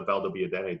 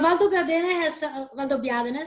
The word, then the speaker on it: Valdobbiadene: What would you say defines the Asolo DOCG from the Valdobbiadene DOCG? Well, Valdobbiadene, sorry. I was pronouncing.